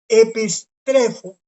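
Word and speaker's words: ἐπιστρέφω: Viene del verbo epistrefo, correcto. Aquí está la pronunciación. Epistrefo.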